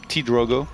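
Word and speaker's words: PtitDrogo: T-Drogo, which is, by the way, how you say it, T-Drogo. T-Drogo? Yeah, it's like a shorter way to say petit. Yeah, it makes sense. Yeah, T-Drogo. Like small Drogo.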